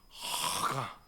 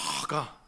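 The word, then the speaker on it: הגה: 히브리어로 따라해 보겠습니다 여러분 이게 좀 발음이 중요해요 이게 목젖을 떨어야 돼요 자기 공부를 해 보니까 그렇게 발음해야 되더라고요 자기가 해볼때 따라 한번 해 보세요 하가 다시 한번 더이 목젖을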